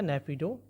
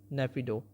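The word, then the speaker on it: Naypyidaw: लेते हैं हम लोग करेंसी कैपिटल होगा आपका ने पिडो स्पेलिंग देख लीजिए एन ए वाई पी वाई आई डी ए डब्लू ने पिडो करेंसी की बात करें तो करेंसी होगा म्यानमार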